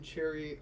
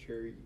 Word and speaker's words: chary: He became chary of using his influence. I might be saying chary incorrectly. It's C-H-A-R-Y. Yeah, it is pronounced Sherry.